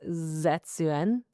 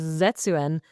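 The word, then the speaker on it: 絶縁: The song is in Japanese, but when I looked up how to pronounce it, it's supposedly pronounced Zetsuen.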